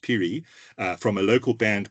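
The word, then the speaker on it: Phiri: Ray Piri, spelled P H I R I, pronounced Piri, uh from a local band called Stella, which means train as in seam train.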